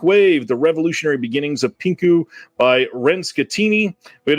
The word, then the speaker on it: pinku: 1971 this is a pinka film or pinku AA sorry it's the proper way to say that um this is